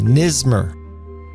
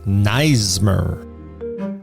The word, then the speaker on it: Neismer: I've been saying Nismer. It's Neismer.